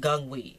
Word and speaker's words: Guanghui: it's called, and but you say it Guanghui, even though it's Hui. They were saying Hui, but it's actually We.